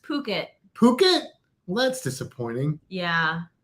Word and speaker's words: Phuket: Oh, it's pronounced Phuket.